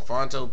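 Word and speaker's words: Phonto: Click on Fonto, P-H-O-N-T-O is the way you spell it.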